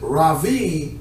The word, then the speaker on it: Rabbi: But Rabbi, which is the more appropriate way to pronounce it, Rabbi, is a term that endeared respect.